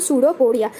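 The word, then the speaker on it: pseudopodia: देखो यहाँ पे जो पी है वो साइलेंट हो जाता है तो इसलिए हो जाएगा सूडोपोडिया।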